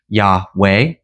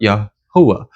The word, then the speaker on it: Yahuwah: I know many people like to pronounce it Yahweh or Yahweh or Jehovah or Yahuwah. So whatever you choose to pronounce it, just understand that when I say Yahuwah, I am speaking of the covenant name that our Elohim gave man.